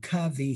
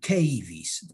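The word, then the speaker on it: cavy: there is a patagonian cavi here on the right cavis are rodents well i have heard some people calling them caves pronunciation please excuse me if i am not clear i say cavi and these patagonian cubbies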